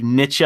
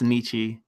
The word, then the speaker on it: Nietzsche: I'm saying Nietzsche. That's how I'm saying it. I got that from a professor in college, so I think he actually knows more than you do, sir. I've seen it pronounced a couple different ways, like Nietzsche or whatever the fuck. That sounds stupid. It's Nietzsche.